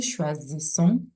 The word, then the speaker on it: choisissons: The Z sound because the S is found in between two vowels, and then the deux S, the double S is pronounced as S. Nous choisissons, vous choisissez.